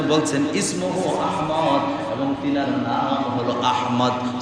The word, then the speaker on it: আহমদ: অনেকে দেখবেন নামের সাথে রাহে আহাম্মদ। কবিরা আহম্মদ কোভিদ আহম্মদ এর আহমদ হবে না হবে আহমদ বলেন আহমদ বলেন না মহব্বত করে নবীজির নাম এই হিসাবে বলেন সঠিক উচ্চারণ আহমদ কত বিশ্রি ব্যাপার নাম